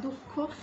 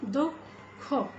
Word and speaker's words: দুঃখ: ব এর ওকার এবং দুঃখ দুঃখ এখানে বিসর্গটি কিন্তু উচ্চারিত হচ্ছে উচ্চারণ না হয়ে কি উচ্চারণ হচ্ছে এখানে দুঃখ এই ধ্বনিটা একটু দুবার হয়ে যাচ্ছে একটা অল্পপ্রাণ ধ্বনি এবং আরেকটি মহাপ্রাণ ধ্বনি তো এভাবে আমরা উচ্চারণ